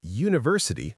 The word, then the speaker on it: university: Because university starts with a u sound which is a consonant sound. We say a university not an university.